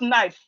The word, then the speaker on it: knife: Knife is starting with K. All right, it's starting with K. But when you hear the pronunciation of knife, you will think it's starting with N. That means that's because the K is silent. You are not supposed to pronounce the K when you are pronouncing it.